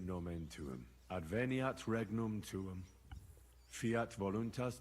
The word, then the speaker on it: nomen tuum: You're saying it wrong. Listen. It goes like this. Pater Noster, qui es in celis, sanctificetur nomen tuum.